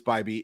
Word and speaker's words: Bibee: And by the way, we have confirmed it is Bybee. It is not Bibby, despite the fact that it is spelled like Bibby.